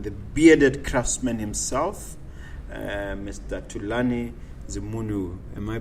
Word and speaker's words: Thulani Zimunhu: none other than the bearded Craftsman himself Mr tulani the munu am I pronouncing it correctly that is perfect thank you